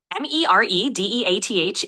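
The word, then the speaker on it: Meredeath: M E R E D E A T H is pronounced mere death meaning just or only death.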